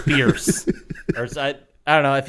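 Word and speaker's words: Bearse: I think I said Amanda Beers. Idiot. Bierce.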